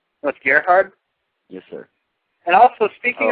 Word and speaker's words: Gerhard: bunch of different ways how how do you pronounce your last name sorry about that no problem it's Gerhard that's Gerhard yes sir and also speaking of the rope